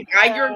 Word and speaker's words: Geiger: use a Geiger counter and all that?